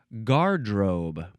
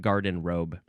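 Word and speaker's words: garderobe: Now technically technically the pronunciation says that this is supposed to be pronounced guardrobe.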